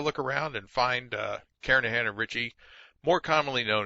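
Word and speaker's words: Kernighan: Kahan I should say the g is silent karahan and Richie C programming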